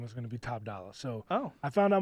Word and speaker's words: Top Dolla: No ER. It's Top Dolla.